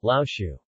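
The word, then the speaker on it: 老鼠: The principal rule of third tone sandhi is: when there are two consecutive third-tone syllables, the first of them is pronounced with second tone, for example, lao shu, mouse, comes to be pronounced lao shu, lao, qiu.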